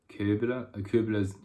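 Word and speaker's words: Köbler: Koebler's Althochdeutsches Wörterbuch. So Koebler's English pronunciation of that last name, but anyway, Koebler's Old High German dictionary.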